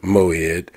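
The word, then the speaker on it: מועד: And the word in Hebrew uh means moed or the word in Hebrew is pronounced moed and it means appointed time uh a fixed time.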